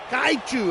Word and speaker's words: kaiju: Kaiu. Actually, that's probably the better pronounce. K. Who threw over yeti? Kaiu. It's almost like a chu at the end.